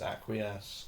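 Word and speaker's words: Acquiesce: It is pronounced aquas.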